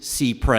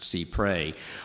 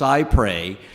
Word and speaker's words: cy pres: the technical pronunciation is C pre it comes from a longer French phrase uh developed in the Middle Ages and under that version it is pronounced C pre I have heard however